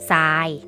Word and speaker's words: ทราย: ไม่ แท้ เพราะ ทหาร เรือ ทราย อ่าน ว่า ทราย ดเด็ก สังเกต ที่ ตัว สี ส้ม นะ คะ